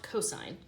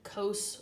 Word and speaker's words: cos: will find the abbreviations SI n which is still pronounced sine cos which is still pronounced cosine and ta n which is still pronounced tangent so we do not call these sin coasts or tan that never happens they're always sine cosine and tangent okay so these